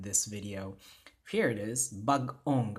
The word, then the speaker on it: bag-ong: nga ligature, so we have bag-ong, right? Bag-ong. Gipuy-an. There's that internal pause that you see. So every time you see that hyphen, you have to make sure you have that internal pause in pronunciation.